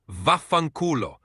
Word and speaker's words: vaffanculo: The Italian equivalent of go fuck yourself is vaffanculo. It's a pretty strong and common Italian curse, so definitely use it with caution. Can you say it again for us? Of course, it's pronounced vaffanculo.